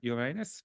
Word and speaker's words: Uranus: This is the most recent and best picture of the planet Uranus, or Uranus, depending on how you pronounce it.